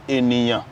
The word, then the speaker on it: Eniyan: Eniyan is pronounced Enya in India. And in Malaysia, it's pronounced in Enyo. But in Yoruba language, it's pronounced as Eniyan.